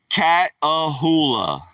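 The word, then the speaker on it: Catahoula: So I'm telling everybody, Matthew Dorman, a cattle like cat, like a cat and hula hoop like a hula hoop. One of them things you do to dance around your hips. Cat ahula.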